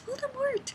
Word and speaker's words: Voldemort: Potter audiobook, the guy's called Voldemort with no T, and he doesn't pronounce the T. And every time I hear it, I'm like, he must not be named. He's not Voldemort. It's Voldemort.